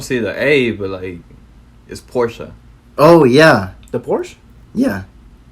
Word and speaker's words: Porsche: like honestly but like Porsche Porsche that I can't get over that it's like worse yeah Porsche it but is actually Porsche I don't see the able a is Porsche oh yeah the Porsche